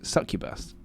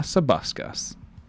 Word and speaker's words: succubus: call it a Buskers I misread it it's succubus and I call it a subascus so that was fun